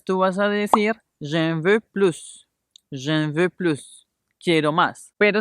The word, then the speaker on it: plus: sonido va a cambiar cuando vamos a utilizar la connotación positiva de esta palabra vamos a decir plus como si estuviéramos leyendo en español con no española y pronunciando